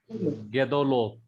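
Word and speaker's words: גדולות: Gadolot or Gedolot? Gedolo. Yeah. Gedolot. Okay. Yes. Gedolot. Now remember, third vowel back from accented syllable is pointed with as short as vowel as possible.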